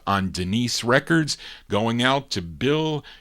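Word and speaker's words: Danise: It's spelled D-A-N-I-S-E. I think they pronounce it Denise.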